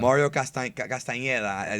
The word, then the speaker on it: Mario Castañeda: No, Mario Castañeda is how you say it the right way.